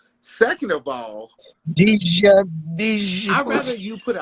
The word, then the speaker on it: Djibouti: Djibouti. DJ. Like Lil Wayne, go DJ. That Yeah. DJI BOUTI.